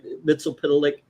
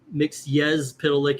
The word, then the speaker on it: Mxyzptlk: Mitzel Pitilik. Uh, mix yez pitilik actually I think is the way you say it. Um, according to Gilbert Godfrey, that's the correct pronunciation.